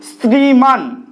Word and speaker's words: শ্রীমান: শ্রীমান, আমরা তালব্য স লিখি ঠিকই, কিন্তু শ্রীমান দেখো দন্ত স এর মতো উচ্চারণ করি।